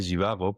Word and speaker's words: Zhivago: Pues de entrada, en origen se decía Jivago, porque Jivago es la pronunciación rusa, ¿no? Pero bueno, la Z esa impone mucho visualmente y claro, pues al final el Doctor Zivago se popularizó así, ¿no?